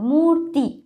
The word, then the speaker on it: মূর্তি: তয়ের আগে রয়ের উচ্চারণ, মূর্তি।